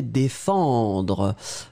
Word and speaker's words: défendre: Ma prononciation, dé, e, fan, vraiment une nasale, tout dans le nez, pas de N, défendre, dr. Et le E, pour moi, je ne finis pas sur le E, défendre, dr.